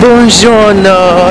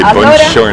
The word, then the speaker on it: buongiorno: Buongiorno, Ischia.